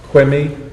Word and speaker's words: Quimi: with the first case which is quimmy i'm not sure i'm pronouncing that right versus state that is the correct appreciation okay good morning sir